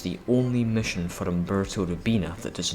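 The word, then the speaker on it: Robina: In Naval Engagement, Umberto Rubina's voice actor, Danny Trejo, mispronounces Umberto's surname. They're laughing at me, Tommy, at me, Umberto Rubino.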